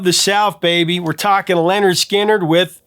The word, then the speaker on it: Lynyrd Skynyrd: South baby we're talking Leonard skinnard with pronounced Leonard Skinner I what can you